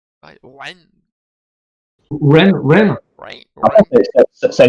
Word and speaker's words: Wren: Parce que j'ai du mal, en fait, à prononcer. Pareil. Ren.